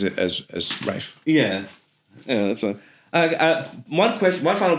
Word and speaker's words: Ralph: Rafe is kind of like the posh way of saying Ralph. Yeah. But he's the only person I know who has that name who says it as Rafe.